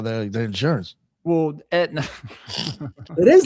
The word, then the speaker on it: Aetna: So it's just spelled differently. The A doesn't. It's silent.